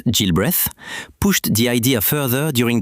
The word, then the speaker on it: Gilbreth: Lilian Muller Gilbreth, pronounced Gilbreath, pushed the idea further during the 1920s and 30s.